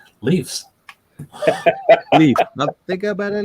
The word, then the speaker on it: Leafs: Just on Andy's question, is it Leafs or leaves? Leafs.